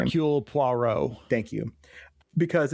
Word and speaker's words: Hercule Poirot: it, the Herlock Poirot or whatever, however you pronounce his name. Hercule Poirot.